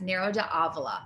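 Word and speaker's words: Nero d'Avola: do you say that narrow d'avila narrow as in like narrow-minded narrow it's not a javelin yeah it's narrow de avla de avla yes nero to avila okay there we go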